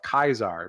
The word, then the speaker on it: Caesar: Caesar guy calls himself kaisar because he doesn't know how he's never heard how Caesar was properly pronounced so it's kaisar Legion yeah sure um